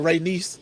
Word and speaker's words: Rhaenyra: Just like Rhaenyra sound like somebody goddamn uncle too. We might spell it a little different. It'll be spelled Ray R-A-Y niece, but like a motherfucker